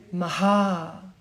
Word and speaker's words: Maha: five so puncha then Maha Maha Maha means big Maha or big it means big or it also means great and you have a puff here and then you have a long o and the long a so we looked into